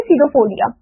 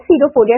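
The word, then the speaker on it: pseudopodia: इसको क्या बोलते हैं इसको हम बोलते हैं सीडो फोरिया ओके क्या बोलते हैं सीडो फोरिया इसमें पी साइलेंट है स्टूडेंट ओके तो फॉल्स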